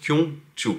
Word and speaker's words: Gyeongju: pouvoir le dire hein ça s'écrit jyongchu mais ça se prononce kyongchu ensuite de la gare